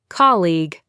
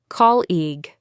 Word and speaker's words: colleague: Another one from the workplace, colleague, colleague.